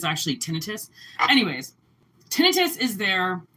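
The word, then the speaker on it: tinnitus: And people think it's tinitis, but that's not how you pronounce it. It's actually tinitus.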